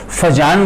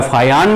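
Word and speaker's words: Fajans: और उन्हीं फैक्टर्स को हम साइंटिस्ट के नाम पर फजान रूल बोलते हैं, FUJAN, प्रोनाउंसिएशन का फर्क है, वो फुजान बोलता है, फजान बोलता है, फायान भी बोलते हैं।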